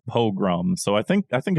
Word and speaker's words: pogrom: what is what uh dilbert in the chat says it's pronounced pogrom so i think i